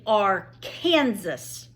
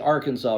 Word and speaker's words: Arkansas: Gathering Place correct but once that River hits Kansas it's called the r Kansas River and that is true 100% true it comes out of Colorado it's the Arkansas River it hits the Kansas